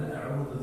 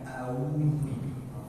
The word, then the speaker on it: أعوذ: A'udzu bukan a'udzu. A'udzu, a hamzah kemudian ain.